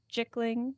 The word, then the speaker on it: Jickling: her good bad luck jiggling rhymes with pickling and tickling but you I guess